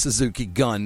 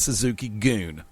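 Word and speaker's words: Suzuki-gun: I'm from Alabama and I know that it's pronounced Suzuki gun, not Suzuki Goon. Suzuki Goon. Jim Ross said Suzuki Goon three times last night.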